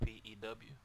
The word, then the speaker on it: Pugh: You say it Pew. It's pronounced P-E-W for those people who... We are. So that is right. Pew.